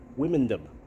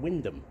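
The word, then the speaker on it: Wymondham: how see to me untrained eye I would pronounce that wiom but apparently that om is silent so it's wh Windom I don't know about that anyway uh we're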